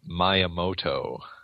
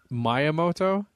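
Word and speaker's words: Miyamoto: okay go for it I said myoto myamoto yeah I never got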